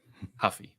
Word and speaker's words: Ruffy: look good but yes he is not C rer Huffy sorry we don't pronounce the RS in in Brazil yes that's that's pretty